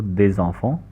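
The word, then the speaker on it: des enfants: पे फॉलो होगा कि नॉर्मली दे में एस प्रोनाउंस नहीं होता, लेकिन जब अगला लफ्ज़ वॉयल से स्टार्ट हो रहा हो तो फिर एस प्रोनाउंस होगा, या कोई भी लफ्ज़ आखिर में एंड हो रहा है वो प्रोनाउंस होगा, तो दे ज़ॉफ़ों।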